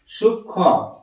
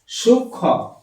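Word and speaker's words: সূক্ষ্ম: সূক্ষ কয়ে মধ্যস্ ময় এখানে ম এর উচ্চারণ হবে না ম উচ্চারণ হবে না ম উচ্চারণ হবে না তার বদলে কিন্তু উচ্চারণটা এমন হয়ে যাবে সূক্ষ সূক্ষ ম উচ্চারণ হবে না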